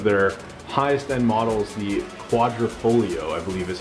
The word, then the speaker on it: Quadrifoglio: It's actually called a Giulia, and it's one of their highest end models, the Quadrifoglio, I believe is how you pronounce it.